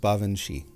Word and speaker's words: banshee: But no, it's actually pronounced Banshee.